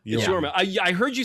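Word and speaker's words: Jorma: So, according to creator Tone, am I pronouncing that right? Yma, I think it's just Yor Yorma. Yma. It's Yorma. Yorma.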